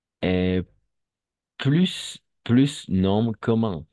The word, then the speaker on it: plus: Cuando viene seguido de un adjetivo, va a ser solo vamos a pronunciar plus. ¿D'accord? Un adjectif o un adverbe.